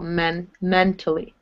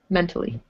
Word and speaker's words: mentally: Yeah, you're emphasizing the first syllable, mentally. Mentally. Mentally. Good. And when you have tally like this, it's actually pronounced more like tully.